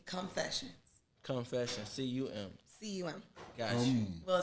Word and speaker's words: CUMfessions: I'm like, no, it's not confession. It's CUMfessions. Come with me. You gotta say it right.